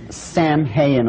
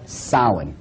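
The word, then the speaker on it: Samhain: call it saawan now when you look at the name it looks as if it's saying Sam haiyan or something like that no no no this is properly pronounced and the ancient Gaelic as solid solid according to a cult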